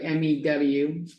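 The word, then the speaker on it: μ: and me which is it's a Greek letter pronounced sounds like Mew uh this is a population mean but what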